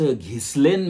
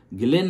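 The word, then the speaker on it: Ghislaine: भारतीय लोक आहोत तर त्या बाईच्या गिलेन असं तिच्या नावाचं उच्चारण म्हणजे प्रोनन्सिएशन केलं जातं तिचा स्पेलिंग आहे जी एच आय एस एल ए आय एन आणि इ पण शेवटी पण आपण त्याच घिसलेन मॅक्सवेल वगैरे असं उच्चारण करायचं नाही त्याच उच्चारण गिलेन मॅक्सवेल असं आहे ही बाई आहे ती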